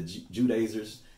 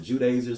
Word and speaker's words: Judaizers: Okay, we're going to get more into the Judaizers. You can pronounce it Judaizers or Judaizers, either or.